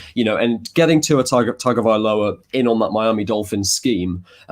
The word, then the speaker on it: Tagovailoa: Do you know how to pronounce the last name? Tagovailoa.